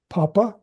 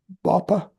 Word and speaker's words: papa: Now, you have to practice those sounds because the tendency for Arabic speakers is to pronounce those as b, bapa, bapa, b, pop, bop. And so you have to learn to put your mouth up a little bit higher for the p sound, then it's more of